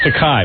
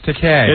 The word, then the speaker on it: Takei: George Takei is uh it's takai no it's Decay is it rhymes with okay he'll explain to you